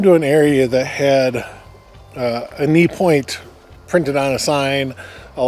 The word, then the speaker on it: Enee: structure down there called, I think we're assuming it's pronounced a knee. It's Enee. So that's how you spell it. But it's Enee Point.